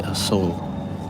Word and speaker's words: Asok: They say Asok, like without the K. I wonder if I'm saying it wrong. I probably am. Asok.